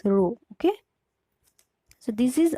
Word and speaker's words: rho: This way pronounce it like this, rho, okay?